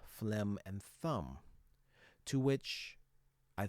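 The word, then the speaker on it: phlegm: He's talking about words that have similar final salabic pronunciations uh but are spelled differently. Notice D R A C H M P H L E G M T H U M B all end with the final M sound and none of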